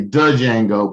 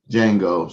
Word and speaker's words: Django: y'all don't understand that the d is silent so let me say dojango but it's django so um and if